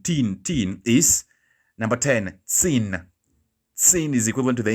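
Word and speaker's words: zehn: that english teen teen teen is number 10 sin sin is equivalent to the english teen okay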